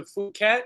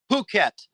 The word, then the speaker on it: Phuket: went to my pronunciations won't be right, but you went to Phuket. Is that how you say it? Phuket. Phuket. Yeah. Phuket. But it looks like F-it, you know, Phuket.